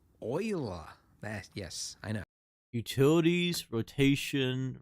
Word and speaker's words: Euler: Not Euler, Euler.